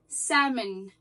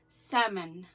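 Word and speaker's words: salmon: طلع لا سلامون بالعربي سامن بالانجليزي يعني السلمون بالعربي اسمه بالانجليزي سمن سمن الال ما بتتنطقش دي بس معلومه في السريع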